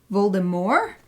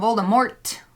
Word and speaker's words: Voldemort: the first audio book the first US audiobook calls it Voldemort like a French pronunciation which was apparently the original intended pronunciation roll them more and then the movies came out and they call them Voldemort with a t like an English pronunciation and then the audiobooks